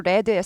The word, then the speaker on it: read: 읽혀진 read red red 쓰는 건 똑같이 read를 써놓고요 발음 달라져요네 그리고 일단 읽었다 읽혀진 이렇게 해서 가죠 발음도 꼭 알아주셔야 되고요 여기서 그러니까 리드 아니고 레드의 세 번째 거예요 과거분사형이